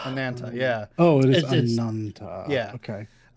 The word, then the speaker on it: Ananta: Oh, it is Ananta.